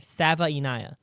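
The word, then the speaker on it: Savaiinaea: I put the phonetic pronunciation in there. Sava-Inaya.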